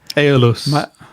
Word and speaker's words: Aeolus: Moving on to the next one, which is called, help me out, how on earth do you pronounce this? Harley Benton Aeolus something? Aeolus.